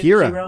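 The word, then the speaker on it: Qi'ra: Kira.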